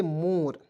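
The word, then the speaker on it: more: ओ आर ई दोस्तों इसे पढ़ेंगे मोर क्या हो जाएगा मोर अंतिम में ई को हमने साइलेंट कर दिया ठीक है अब कहिए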